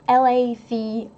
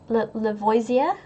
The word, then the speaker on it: Lavoisier: People are asking about how the name is pronounced. Robert's surname is Lavoisier. Like Lavoisier.